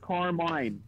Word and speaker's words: Carmine: it's Carmine. Carmine. Yeah, Carmen's somebody else. I have a lot of friends named Carmen. That's why I'm used to it.